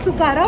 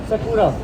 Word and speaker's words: Sakura: It's Sukara, or how do you pronounce it? Sakura.